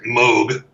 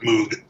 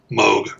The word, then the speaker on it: Moog: Keith Emerson with his Moog modular, and I should say Moog, not Moog, Moog, rhymes with Vogue.